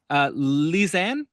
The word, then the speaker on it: Lisanne: Lisanne, am I pronouncing that correctly?